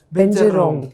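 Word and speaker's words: เบญจรงค์: craft from ceramic called benjarong benjarong yes that's the thai pronunciation binta means five rong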